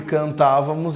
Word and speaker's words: cantávamos: é mesmo a razão Por que cantávamos é uma proparoxítona igual a palavra vendermos é uma proparoxítona tem a sílaba tônica como a antepenúltima tá então Obrigatoriamente acentuado